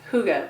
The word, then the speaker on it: hygge: of it so it's a danish concept called hygge it's pronounced hygge but it's spelled h-y g-g-e and i always want to say higgy but i'm not going to do it girl